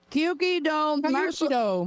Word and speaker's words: Kyuki-do: The Kyuki-do.